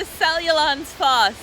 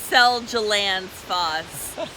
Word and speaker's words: Seljalandsfoss: We made it to Seljalandsfoss, and that's how you pronounce it, not like Seljalandsfoss.